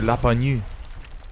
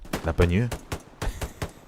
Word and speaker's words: Lapagnu: If you speak French, Monsieur Lapagnu, that's how you say his name, Lapagnu, will be streaming on Twitch, so be sure to check out his stream.